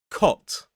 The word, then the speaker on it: cot: The difference here is a kind of short O vowel sound and a longer gliding O sound where it moves from the middle of the mouth more up O.